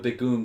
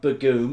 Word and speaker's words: Begum: Okay, JD says it's not Begum, it's Begum. We have to say it right, David. It's Begum.